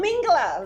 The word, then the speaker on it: Mingela: Okay, here we are at Mingela. Mingela. Oh, Mingela. There you go. I always say it wrong.